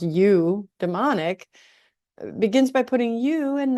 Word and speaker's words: eudaimonic: And it seems telling that this type of happiness is pronounced you demonic begins by putting you and not me first.